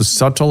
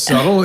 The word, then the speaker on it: Suttle: And Suttle, I believe, is how you pronounce his last name.